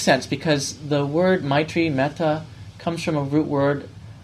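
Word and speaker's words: mettā: language which is a dialect um it is pronounced meta.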